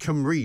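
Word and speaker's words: Cymru: probably right actually because it's kamri isn't it uh with the use pronounced with an eye but that's the thing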